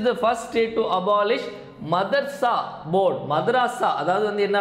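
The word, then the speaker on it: madrasa: அடுத்த கேள்வி which is the first state to abolish மதர்சா board? மதராசா அதாவது வந்து என்ன அப்படின்னா மதராசா வாரியத்தை ஒழித்த முதல் மாநிலம் எதுன்னு சொன்னேன். ஒருத்தர் வந்து கமெண்ட் பண்ணியிருந்தார், சார் இது மதராசா இல்லை இது மதர்சான்னு ப்ரொனவுன்ஸ் பண்ணோம் அப்படின்னு சொல்லிட்டு ஒரு ஒரு முஸ்லீம் ஃப்ரெண்ட் ஒருத்தர் கமெண்ட் பண்ணியிருந்தார்.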